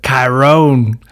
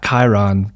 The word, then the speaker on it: Chiron: halfway through the movie because they pronounced it kyron not chiron but oh my goodness